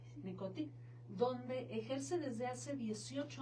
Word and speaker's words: Necothy: es fundadora del centro Necoti, así se pronuncia, Necoti, donde ejerce desde hace 18 años como psicoterapeuta, asesor educativa y empresarial.